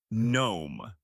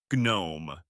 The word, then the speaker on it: gnome: The G is silent. You say gnome. Gnome.